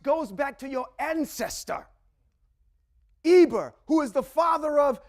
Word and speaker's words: Eber: That's connected to a person named Eber. When you look in the Torah scroll and it's spelled Ayin Bet Resh.